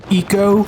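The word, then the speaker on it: Ico: japan studio game called aiko and before any of you guys decide to correct me and say it's pronounced eco well i'm not going to say eco because that's going to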